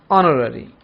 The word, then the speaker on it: honorary: discussed next one honorary here H is silent honorary an honorary position in